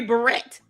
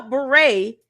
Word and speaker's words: beret: You know, beret only has five letters, two syllables. Beret. Beret. Two syllables, five letters.